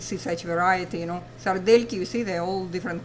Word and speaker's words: сардельки: What you see is written sardelki, de, but we don't pronounce it soft de, we pronounce sardelki.